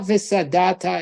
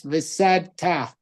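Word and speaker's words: ושדת: It's not visadata, it's visadta.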